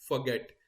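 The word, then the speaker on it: forget: आपने फॉरगेट नहीं बोलना, फॉरगेट। क्या बोलना है आपने? फॉरगेट।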